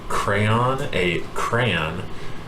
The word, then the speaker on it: crayon: A crayon, with 2 syllables where the second syllable rhymes with dawn, crayon, or sounds like crown or other.